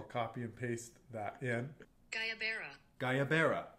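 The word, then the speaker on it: guayabera: How do you pronounce? And then I will copy and paste that in. Gayabera. Gayabera shirts.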